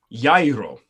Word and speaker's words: gyro: Hero or gyro, however the fuck you want to say it. Yairo. That G is pronounced like a Y.